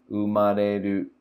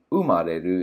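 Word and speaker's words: 生まれる: So this is a Heiban word, umareru. Instead of umareru, it's umareru.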